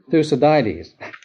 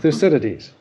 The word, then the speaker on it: Thucydides: war by the stanislaus you can't pronounce it through sodiudes no thucydides the acidities where you're